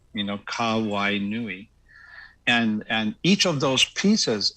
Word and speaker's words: Kawainui: Well, Hawaiian, just like the Filipino language, is very phonetic. And so if you break everything into syllables and you look for the vowels, and you pronounce them, then you're doing, you're going to be okay. So just like aloha, so it's aloha, or Hawaii, right? Or in case of my name, Kawainui.